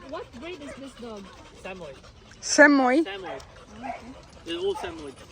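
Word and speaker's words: Samoyed: Samoid. Samoid. Samoid. They're all Samoid. How do you spell it? S A M O Y E D. Samoid. Samoid.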